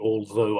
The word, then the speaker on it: although: I pronounce the although. I come from southern England, so I do the TH with my tongue sticking between my teeth and pressing down on it.